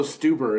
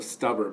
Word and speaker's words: Stuber: It's also Stuber instead of Stuber, but that's a hard one to pronounce.